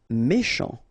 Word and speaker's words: méchant: Méchant, final T not pronounced, C-H together, sh, méchant, méchant.